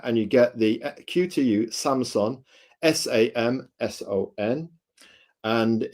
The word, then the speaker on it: Samson: This is a Samson, not like the TV company. It's spelled Samson, and it is it is the beginner's podcaster's recommendation.